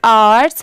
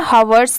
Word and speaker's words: hours: अब जैसे देखिए यहाँ पर भी लेटर H साइलेंट है, इसे सिर्फ आर्ट्स पढ़ रहे हैं, हवर्स नहीं, क्योंकि यहाँ पर तो H दिया हुआ है, ह की साउंड आनी चाहिए बट ये साइलेंट है।